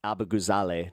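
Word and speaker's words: Abughazaleh: It's literally pronounced Abu Ghazaleh, not Abu Ghazaleh. Everybody's been saying it wrong.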